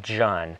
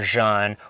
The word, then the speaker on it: jun: but we're currently producing john or jean or june there's many ways to say it j-u-n is how you spell it and it's a probiotic